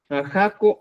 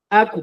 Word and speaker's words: aku: Jaco, aku. Aku, por ejemplo, aquí. Aku nomás se dice. No se dice jaco, sino aku.